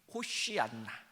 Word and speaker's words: 호시안나: 이 호산나의 원래 이제 히브리어 발음을 하게 되면 이렇습니다. 호시안나. 그래서 좀 쉬자를 길게 발음해야 됩니다.